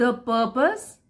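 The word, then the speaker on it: purpose: द पर्पस, कैसे पढ़ेंगे? पर्पस, are silent होता है।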